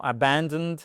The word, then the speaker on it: abandoned: La bonne réponse peut évidemment être seulement abandoned, abandoned. Accentuation là aussi, voyez votre apostrophe qui indique que le stress est sur la 2e syllabe.